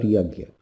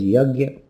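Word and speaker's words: yajña: But Krishna says that yoga cannot be accomplished without yajna. In North India it's pronounced as yajna, usually in South India as yajna.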